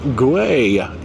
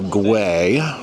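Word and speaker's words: Güell: Well, we have made our way up to the park guay area. That is gu u e l pronounced guay.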